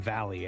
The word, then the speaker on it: Vahle: Look, Jeff Vahle, Jeff Vale, I think we we we settled on Vahle as the way to pronounce it, right?